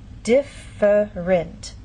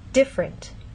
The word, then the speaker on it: different: here the word different in very slow careful speech and especially formal speech you might get this pronunciation differerent but often in fast speech you lose that middle sound and you get different so again how do